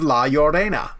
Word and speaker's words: La Llorona: The Curse of La Llorona.